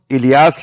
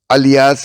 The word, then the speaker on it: الیاس: معد بن عدنان۔ الیاس، بعض مصنفین نے اس نام کا تلفظ الیاس لکھا ہے، لیکن سہیلی نے روز الانف میں الیاس ہی کو صحیح قرار دیا ہے۔ بلاذری نے بھی انساب الاشراف میں اس نام کا یہی تلفظ لکھا ہے۔ اس سلسلہ نسب